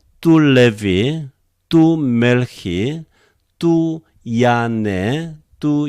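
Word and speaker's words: Λευί: Levi. Do you remember? A, epsilon together becomes a diphthong. So it is either F or Ev. It is followed by a vowel, naturally, Levi, Levi, Levi.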